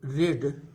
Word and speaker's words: read: रीड का third form भी जो उसकी स्पेलिंग होती है, वर्तनी होती है, वो READ होती है, लेकिन उसका प्रोनाउंसिएशन रेड होता है।